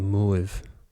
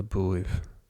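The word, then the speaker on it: buaibh: So, you'll notice it's not erna muaib. It's just erna buaib. We don't eclipse buaib since it's erna.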